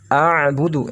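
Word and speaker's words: أَعْبُدُ: Ingat ada ain, ainnya bersukun. Bila ain sukun, maka sama seperti halnya lam sukun. Ditekan bacanya. La a'budu ya.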